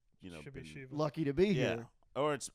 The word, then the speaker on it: Shiva: Okay, so the name's pronounced Shiva in India, but I was born here where it's just, Shiva.